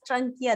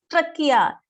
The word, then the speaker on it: trachea: Last class also, so many times I told you, Kedar, don't pronounce it as trachea. There is no letter N in that word. It is trachea.